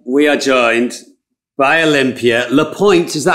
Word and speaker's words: LePoint: palm ah good question it's the point in english in french it's le pointe but i go by olympia la pointe olympia we're very excited